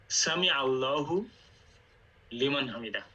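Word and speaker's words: سمع الله لمن حمده: সঠিক উচ্চারণ হচ্ছে সামি আল্লাহু লিমান হামিদা, এটি সঠিক উচ্চারণ।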